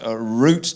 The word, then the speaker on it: root: in the old world the word root does not rhyme with doubt but with boot toot Fruit Shoot and loot blame the French you'll